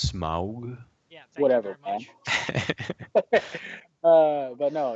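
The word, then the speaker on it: Smaug: of the Rings uh it's pronounced smog yeah whatever uh but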